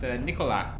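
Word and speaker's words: Nicolas: wrong interesting fact uh nicholas in french is pronounced nikola which is a girl's name in england so there you go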